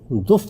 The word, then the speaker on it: دف: سامنے گیت گاؤں گی۔ یہ لفظ عربی زبان میں تو دف تلفظ کیا جاتا ہے، لیکن اردو زبان میں اس کا یہ تلفظ اب رائج ہو چکا ہے، یعنی دف بجاؤں گی اور گیت